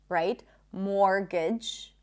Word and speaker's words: mortgage: More words with silent T. Mortgage. We don't say mortgage, right? Mortgage.